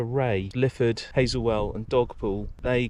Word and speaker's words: Rea: great this uh board puts me right on the pronunciation of this River it's the river Ray lifford hazelwell and dogpool